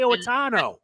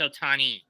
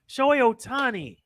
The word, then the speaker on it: Ohtani: the career of shohei ortano has it it's ohtani ohtani it's his career is